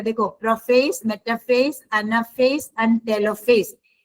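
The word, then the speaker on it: telophase: देखो profess मेटाफेज anaphase and टेलोफेज ये टेले नहीं टेलो है। आपके बुक में स्पेलिंग मिस्टेक है। टी ई एल ओ टिलोफेज होता है।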